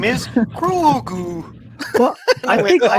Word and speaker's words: Grogu: is Grogu.